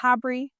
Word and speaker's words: HABRI: got to be a part of do you pronounce it HABRI when you talk about it?